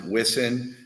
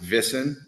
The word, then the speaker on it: Wissen: Yeah, the headquarters in manufacturing is out of a place called, we would pronounce it Wissen, but they pronounce it Wissen, as their W's, their V's.